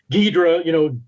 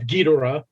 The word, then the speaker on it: Ghidorah: Ghidorah, the Dora, so the Dora of Ghidorah, right, is a Japanese phonetic pronunciation, reading of the first three letters of dragon.